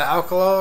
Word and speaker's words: Alkalol: This is the Alkalol right here. It's not alcohol, it's spelled Alkalol, kind of like Alka-Seltzer.